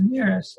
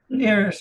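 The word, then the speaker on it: Neris: name of it again uh nearest like siren is spelled backwards so there's n-e-r-i-s and uh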